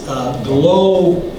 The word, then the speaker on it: glomalin: I used to say glomalin, but it's glomalin. Glomalin is the way to pronounce it.